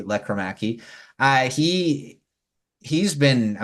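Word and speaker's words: Lekkerimäki: gonna mention Jonathan leaki I'll say his name correctly uh because it's not laraki leaki uh he he's been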